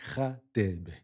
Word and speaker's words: Radebe: But how do you pronounce the name?" And I'm like, "It's RADEBE."